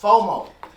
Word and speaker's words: FOMO: even more el fomo fomo that's how it's pronounced fomo the definition of fomo is the fear of